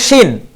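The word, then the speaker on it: شين: যেমন এই শাতানা শব্দের প্রথম অক্ষর হচ্ছে শিন। আচ্ছা, আর যদি আমরা শিন উচ্চারণ করি, উচ্চারণটা কেমন হয়?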